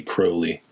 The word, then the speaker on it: Crowley: So, I think it's really Crowley. That's the way he would pronounce it.